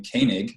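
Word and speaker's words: Koenig: J Canaan calm and that is how you pronounce my last name Cain egg but I just spelled koe ni g but you didn't know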